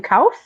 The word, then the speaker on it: Kouf: Do we pronounce his last name Kouf?